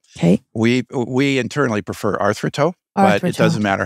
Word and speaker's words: Arthroto: we we internally prefer artho but it doesn't matter how you pronounce it yeah I heard from another interview it's about it's a Greek uh term for coming together or bringing together join for join yeah